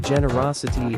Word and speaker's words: generosity: kindness and compassion pronunciation pronouncing generosity is simple generos it with a soft G and a long e use in a sentence